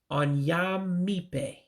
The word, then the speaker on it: Onye: On-yae On-yae judge.